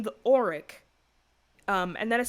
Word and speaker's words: Oriq: What I will say is that the name the Auric, and that is spelled O-R-I-Q, the Auric is something familiar to